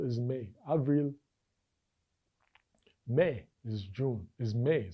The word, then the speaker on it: avril: Avril is May, Avril.